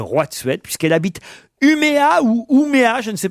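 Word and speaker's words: Umeå: de la Suède comment comment vous prononcez humio parce qu'il y a un petit rond audessus du a voilà et quand il y a un petit rond audessus du a en Suède au danemarque ça fait o mais si tu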